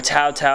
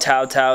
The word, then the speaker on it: Taotao: tail dirt bike or Taotao i don't know how you guys want to pronounce it some people call it Taotao some people call it tau tau whatever however you want